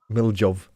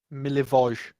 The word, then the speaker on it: Milivoj: I can't pronounce his name still. Miljov. Milivoj. Milivoj.